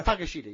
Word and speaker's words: Takeshita: So Takeshita or something like that? It's Takeshita, yes.